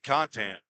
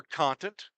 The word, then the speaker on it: Contant: Caden Contant. Or Contant. I think that's Zach Williams pronounces it.